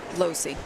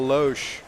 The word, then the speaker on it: Lohse: H does come before the S. It's Lohse. I know. It's Losi then, right?